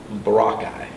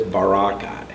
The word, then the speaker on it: Boracay: to the island of boracay i was saying it wrong i'm saying very pittsburgh east before boracay i was phonetically doing it but it's barakai and wow i mean